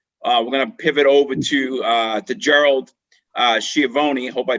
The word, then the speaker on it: Schiavoni: And after we hear from Andy, we're gonna pivot over to Gerald Schiavoni. Hope I pronounced your last name correctly, Gerald.